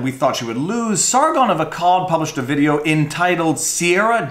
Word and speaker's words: Sargon of Akkad: cat or a Cod I don't exactly know how to pronounce that let's just figure it out right now hey Siri pronounced Sargon of a cab Sargon of Akkad Thank You Siri Sargon of Akkad